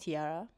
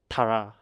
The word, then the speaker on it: Tiara: Tara. Yeah. Okay. Yeah. I know which I mean, group. it's Tiara, but fine. But it's spelled as T-A-R-A, right? No. T-A-R-A. Yeah. That's yeah. okay. Yeah. I mean, the crown, Yeah, Tiara.